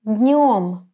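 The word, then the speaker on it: днём: Pay attention to the pronunciation of the word днем. Днем. I touch my hard palate with the middle part of the tongue, днем, and direct the air to my nose to produce a nasal sound н.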